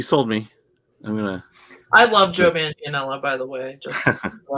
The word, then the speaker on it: Manganiello: type is Lorry, forgive me, I'm going to mispronounce his name, Joe Manganiello? Joe Manganiello.